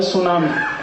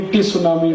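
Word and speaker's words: tsunami: क्यों हटा दो उसको एक शब्द है किट चन के आई टी सी एच ए कहते नहीं नहीं किचन किचन किचन फ के आईटी क्यों लिख रहे हो टी साइलेंट है क्यों लगाया हटा दो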